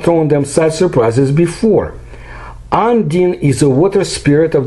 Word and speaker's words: Undine: The Undine, well, the right pronunciation is the Undine, carved from a block, was thrown right under the sea beach by the waves.